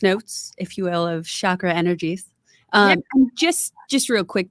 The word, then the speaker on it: chakra: It sounds like shock, like electric shock, Ra, like the Egyptian god.